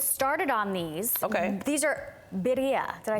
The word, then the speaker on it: birria: on these These are bira did I say it right yes you can say bira if you can't roll your tongue it's okay you you